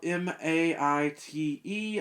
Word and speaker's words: Maite: australian i guess and i was calling her mate you know like what's up me but her name is spelled m-a-i-t-e i looked it up online before making the video and it seems like that would be pronounced something to the effect of maite her name is maite and i think that